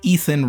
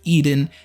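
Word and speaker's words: Iðunn: them to give him Eden u n sometimes U nn more often pronounced like Ethan rather than like the Garden of Eden anyway she was The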